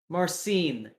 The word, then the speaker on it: Marcin: and he goes hey marcin he like clearly pronounces the n at the end of it usually probably turns yeah